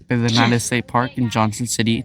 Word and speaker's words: Pedernales: Pedernales State Park in Johnson City, Texas, United States of America, third state from third the state.